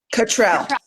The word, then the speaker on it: Katrell: have catrell am I pronouncing your last name correctly I just want to make sure right Kell or Katrell Katrell okay perfect Katrell who is